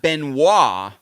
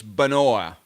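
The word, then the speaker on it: Benoît: or Benoa it's so it's not Benoit it's Benoa I see so is that the distinction SM it wouldn't be Benoit because the way you're spelling and it's more like Benoa so I think it's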